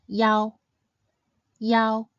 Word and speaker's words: iao: The next final is yao. Yao is a combination of the simple final e and the compound final ao, yao, yao.